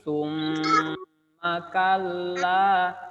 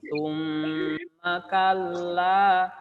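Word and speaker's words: ثم كلا: Mim bertasdid, suaranya ditahan dan dimasukkan ke dalam hidung atau gunnah ya. Jadi suaranya tidak boleh buru-buru. Tidak boleh bacanya summa, summa, tapi summa kalla, masuk ke hidung. Summa kalla, kalla, diayun kallanya sau.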